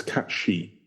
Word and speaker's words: Cait Sith: I think they're saying anyway whatever but it's cat she is is the is how you pronounce it so there you go um haling